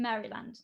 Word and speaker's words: Maryland: Annapolis, and that's in Maryland, isn't it? You pronounce it Maryland.